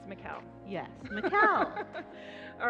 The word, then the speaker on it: Michal: It's Michal. Yes, Michal. All right. You told me when I first met you, like, Michal rhymes with Michelle. That's right. Michal, Michelle. That's it.